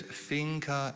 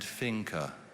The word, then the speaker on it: finca: there any alternate pronunciations there's finca and finka can you use a